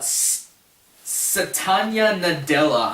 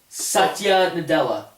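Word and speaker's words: Satya Nadella: um CEO it is what's his name uh Satan nadela I'm sorry if I pronounced that horribly wrong I probably did here it's right up there yeah SATA Nadella oh SATA Nadella SATA Nadella you forgot to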